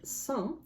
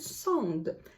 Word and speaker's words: Sand: I've heard Sand, which is the one that I favor, and I've heard Sand, which is also defensible. So the question is the D at the end silent or not?